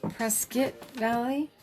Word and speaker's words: Prescott Valley: Pronounced Prescott Valley.